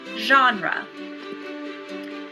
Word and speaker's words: genre: i e or Y it uses the soft sound therefore we pronounce it genre by now I'm sure